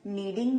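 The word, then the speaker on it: kneading: में कहेंगे आई एम नीडिंग the dough. I एम नीडिंग the dough. यहाँ पे नीडिंग जो इंग्लिश का वर्ड यूज किया गया है उसमें के जो है वो साइलेंट है और इसका मतलब होता है गूंथना।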